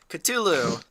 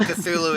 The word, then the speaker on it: Cthulhu: There's different ways to pronounce Oh, yeah. And I I was like going, in fact, if I remember right, if I remember right, even in the story, his actual name is unpronouncable by humans. If I remember right.